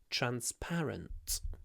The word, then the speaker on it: transparent: part of the lesson transparent our selection process is completely transparent transparent try to do a little pause before the P transparent transparent transparent what